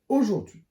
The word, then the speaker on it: aujourd'hui: Aujourd'hui. Aujourd'hui. La lettre H est muette et il y a un espace entre le D et le H.